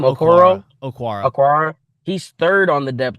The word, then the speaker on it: Okwara: Okwara.